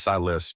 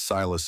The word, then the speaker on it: Silas: again, and she realized the way he said it was Silas, 2 syllables. Not the poisonous Silas of Jubal Maddox's Christian